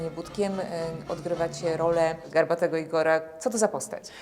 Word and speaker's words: Igor: odgrywa cię rolę garbatego Igora Co to za postać poprawnie Igor wymawia się Ajgor właśnie tak tutaj moja postać zawsze zaznacza poprawną wymowę swojego imienia postać jest to mały